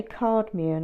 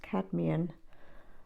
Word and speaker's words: cadmium: I always want to say cardmian. I don't know why, but I think it's pronounced cadmian.